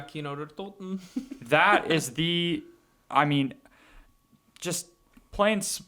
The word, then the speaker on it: Kino der Toten: I never pronounce it right. I pronounce it Keener de Toten. yeah, Kino der Toten.